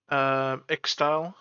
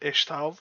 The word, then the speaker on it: Ixtal: Ixtal. Apparently that's how you pronounce it. I've been pronouncing it Ishtal because of Necrit, and it's kind of like how you pronounce X's, right?